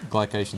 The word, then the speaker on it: glycation: uh glucos glucos ification glucos or gation G glycation is much easier for me to say so